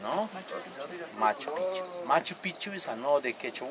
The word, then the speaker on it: Machu Picchu: And Melchor Arteaga said, "Yes, I know one beautiful located at the top of that Machu Picchu mountain."